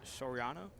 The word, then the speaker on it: Soriano: Robert Soriano.